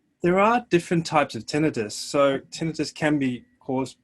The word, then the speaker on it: tinnitus: The tinnitus, is that how you say it?